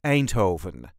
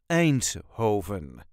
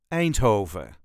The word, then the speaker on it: Eindhoven: way us duchies say a Hoven a Hoven there is a very light emphasis on the first syllable an Hoven a Hoven all the